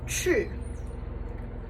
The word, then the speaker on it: 去: It is pronounced chu. Chu. And the pinyin spelling on that is Q-U. And that is 4th tone. So you're going to sound mad when you say chu.